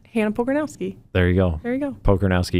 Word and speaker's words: Pokornowski: Pokornowski. You got to spell that for people. Sounds exactly like it's spelled. Okay. Pokornowski.